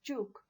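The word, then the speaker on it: Ćuk: know it is uh basically actually pronounced as chuk and it's a type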